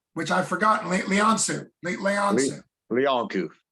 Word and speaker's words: Leancu: You've been listening to Luke for MMA Fancast with John, whose last name is French and a fun pronunciation, which I've forgotten. Leancu. Leancu.